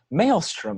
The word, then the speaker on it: maelstrom: So it's a male strumming the guitar. No, like a maelstrom. Like. Wait, how's it spelled? It's spelled like the. I forgot what the definition. It's Maelstrom. So it's not like maelstrom. It's like the word maelstrom, like a storm.